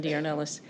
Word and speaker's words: Diornellis: Diornellis. Did I pronounce it correctly? You did. You did. Actually, you just say every letter of the last name. It's Diornellis.